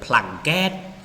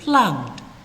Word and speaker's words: plugged: ឬក៏ពាក្យនោះបញ្ចប់ដោយ vowel sound នៅខាងចុងគឺពេលដែលយើងថែម ed ចូលទៅគឺសំឡេង ed នោះនឹងត្រូវបាន pronounce d d យើងមានជាឧទាហរណ៍ examples rob robbed plug plugged ពេលដែលយើងថែម ed ទៅយើងអានថា rob bed ឬក៏ plug get គឺអត់ទេ plugged okay live lived បាទយើងអានថា lived អីគឺអត់ទេបាទ advise advised